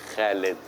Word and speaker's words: Khaled: The kh sound is difficult always for the foreigners. Like my name in Arabic would be pronounced Khaled. Khaled. But if you read it in English, it's Khaled. Yeah, You know? Khalid. Yeah, Khalid.